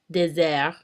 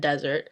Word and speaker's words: désert: When there's only one S, it's pronounced as a Z. For example, in the words poison and désert, poison and desert.